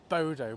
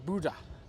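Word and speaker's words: Bodø: made it to well I called it Bodo but my friend this morning who helped with the puncture um calls it Buddha and he's Norwegian so I defer to his pronunciation really um and it's not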